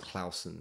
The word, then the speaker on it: Clausen: And my surname actually should be pronounced Clausen.